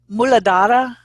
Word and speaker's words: Muladhara: Okay, maybe you can help me with these pronunciations. Is it Muladhara?